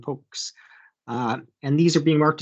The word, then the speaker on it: POCS: So the arcane pronunciations poka, pokma, pokes.